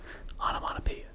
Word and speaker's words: onomatopoeia: Onomatopoeia. That's it. That's how it's pronounced. I don't know if that's how it's pronounced technically. If I were to open up a dictionary, is that exactly what the phonetic spelling of it would be? I don't know. But everyone says onomatopoeia.